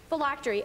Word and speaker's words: phylactery: Phylactery. Phylactery. Am I pronouncing that correctly? Yes.